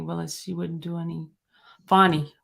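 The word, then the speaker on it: Fani: Fonnie Willis, not Fannie.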